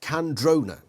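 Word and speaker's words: Kandrona: have invested the species candrona pronounced candrona of course a particle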